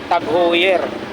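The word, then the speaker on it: TAG Heuer: Tapos dito tayo sa ano, sa Tag-Heuer. Pero yung tamang bigkas daw dito mga kabarbers, Tag-Heuer. Ayan ha, Tag-Heuer.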